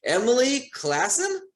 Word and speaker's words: Emily Classen: me right now let me see if i pronounce the last name correctly emily classen perfect nailed it awesome awesome so emily classen